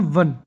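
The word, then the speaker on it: one: अब यहां पर देखिए, इसका प्रोनाउंसिएशन है वन, व, व। ये भले ही वोवेल से शुरू हो रहा है, लेकिन इसकी साउंड कॉन्सोनेंट से शुरू हो रही है, तो इसलिए यहां पे आया है।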